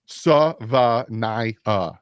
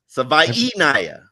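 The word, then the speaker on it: Tagovailoa: Savanaya. No, Doug. It's Savainaya, like Hawaii. He literally said whatever. It. Savainaya.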